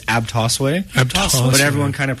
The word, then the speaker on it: Abtosway: of says it differently you know it's it's abas way AB but everyone kind of pronounces it differently it is kind of uh